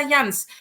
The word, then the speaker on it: Janz: So I'm Janz, also Janz. That's how I pronounce my name in German.